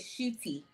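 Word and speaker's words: Ncuti: The N is actually silent. Just, for my So it's Kuti. So it's Kuti. It's actually Shooty. Shooty.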